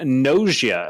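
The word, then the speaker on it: Gnosia: you could pick up nausea i think that's how you'd pronounce it yeah g-n-o-s-i-a for the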